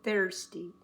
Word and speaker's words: thirsty: Don't say the I. It's not thirsty. Thirsty. It's thirsty. T-H-R. Thirsty.